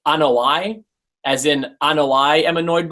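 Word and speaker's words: Anoa'i: Yes, so some people call them the Anoyas because that's what they do. They annoy you. But it's actually pronounced Anoi, as in Anoi am annoyed by them.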